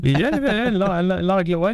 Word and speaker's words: Langlois: Langlois, you don't have to pronounce the S, but close enough.